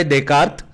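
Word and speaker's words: Descartes: आणि शास्त्रज्ञ मानना जातो देकार्त उच्चार देकार्त इंग्लिश स्पेलिंग होताना डी ई एस सी ए आर टी ई एस वगैरे होता त्याचा तत्व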